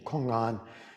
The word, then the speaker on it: Kong-an: We use the Sino-Korean pronunciation, Kong-an. In English, it's more commonly pronounced koan.